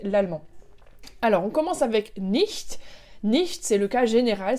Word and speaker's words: nicht: Attention, tu as bien vu la prononciation du nicht, c'est le h qui est à l'arrière, hein, c'est pas le sh comme ça, sch, mais h derrière.